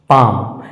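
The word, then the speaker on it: palm: उच्चारण इसका सही प्रोनंसिएशन पाम होगा पाम पी ए एल एम इसका सही उच्चारण पाम होगा उसी तरह से एल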